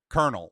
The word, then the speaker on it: colonel: Although I will say with the French, Colonel, what the fuck is that? There's no R in Colonel.